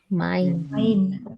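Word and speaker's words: mein: Like Mine. in English, we pronounce this word, no, M-I-N-E. How do we pronounce M-I-N-E in English? Mine. Mine. Mine. This is the pronunciation.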